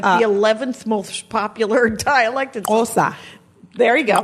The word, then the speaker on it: Xhosa: Yeah, it's like TSK, I think is the letter.